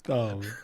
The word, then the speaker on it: Thom: So, Thom actually is pronounced. Thom.